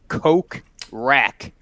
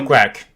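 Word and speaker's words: Kokrak: I spelled out Coke Rack because I don't know how to spell it. Coke Rack.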